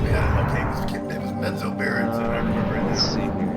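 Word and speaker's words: Menzoberranzan: Also, how do you say that place again? Is Manzarenson? Bazazazazaran. Oh! Menzo Berenson.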